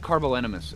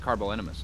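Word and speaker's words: Carbonemys: that word always messes it's like carbol enemas it always messes with me um and I don't think I've ever once in my arc time actually pronounced that properly but I'm still gonna pronounce it carbonimus I'm just saying all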